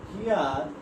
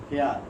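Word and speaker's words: here: হিয়ার, দেখো উচ্চারণটা হচ্ছে হেয়ার না, হেয়ার। অনেকে উচ্চারণ করে থাকে হেয়ার, হেয়ার হবে না, উচ্চারণ হবে হিয়ার, হিয়ার।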